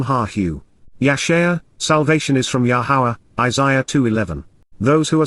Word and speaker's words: Yahowah: portion that is part of the whole of, Yahowah, the proper pronunciation of the name of Yahovah, our Eloah,